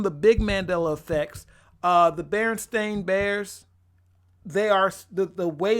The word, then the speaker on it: Berenstain: big Mandela effects the berenstain bears they are the way it's spelled Berenstain that's how it's spelled and pronounced I have never up